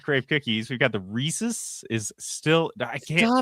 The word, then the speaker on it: Reese's: And then Reese's pieces. It rhymes with pieces.